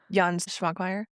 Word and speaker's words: Jan Švankmajer: Jan Švankmajer?